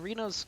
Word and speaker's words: Renault: Do you like Reno Turbo or Renault Turbo? I think it's definitely Reno Turbo.